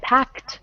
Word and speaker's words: packed: pack pack yeah so if I say I packed my bags it's packed with a t good okay so now